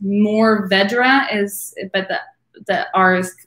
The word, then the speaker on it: mourvèdre: new Vedra that is how that grape is pronounced mourvèdre is but the are is not really apparent